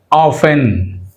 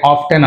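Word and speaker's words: often: ఆఫెన్, టీ is silent, చూడండి ఆఫెన్, అంతేగాని ఆఫ్టెన్ అనకూడదు, ఆఫెన్.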